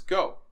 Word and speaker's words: Geau: go axiem tennis backpack so go is g-e-a-x pronounce go okay and this is the axiom backpack so